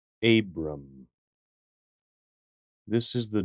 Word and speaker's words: Abram: let's look at a pronounce this name you don't meet many people named this the name is Abram Abram this is the name initially of an Old